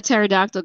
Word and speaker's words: pterodactyl: can't you hear a pterodactyl go to the bathroom oh god i don't know why because the p is silent oh damn i wish